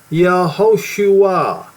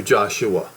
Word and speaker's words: Yehoshua: Well, if you use Strong's Concordance, you will see that the name is pronounced YEHOSHUA. You see that? YEHOSHUA. It's never to be contracted to Joshua, because to do that is diminishing the name Yehovah.